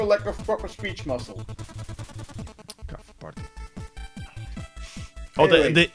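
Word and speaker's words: Café: You pronounced it calf, as in a small cow. Decaf. Because for us, cafe is coffee. So yes. I say it like coffee. In Portuguese, yes. Obviously. Yeah, cafe. That's what it is, huh? The cafe, it's not cafe. Because it has a tilde in the end, I think.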